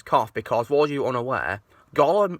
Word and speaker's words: Gollum: But one thing he got wrong was Gollum's cough, because, for you unaware, Gollum is called Gollum because he has a cough that sounds like the word Gollum.